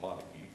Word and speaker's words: Montague: That's how I learned how to pronounce it, Montague.